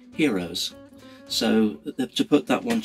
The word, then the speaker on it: Heros: I hispanic is because for quite some time I've been pronouncing it harrows however of course the inventor and maker of the pre selector one is Spanish and so I actually dispatched an email to his good wife Elizabeth and asked her exactly how they pronounce the pre selector and in fact they pronounce it heroes so to put that